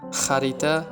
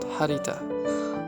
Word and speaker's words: Xarita: Xarita not Harita.